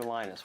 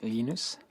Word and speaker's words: Linus: came along linus or linus what's exactly your preferred pronunciation um when i speak swedish it's venus when i speak finnish it's linos when i speak english it's linus and i really don't